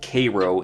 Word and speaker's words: Cairo: Nancy head to what we find out later is Cairo Illinois and yes it is pronounced Cairo in Illinois and Matt Sweeney and Laura head